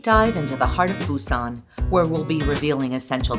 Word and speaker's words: Busan: Up until the year 2000, the city was spelled and pronounced Busan, but now it's officially Busan with a B.